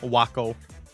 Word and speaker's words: Waco: of smuggling guns no it's like it's like taco but W that's how it's spelled Waco hey guys can I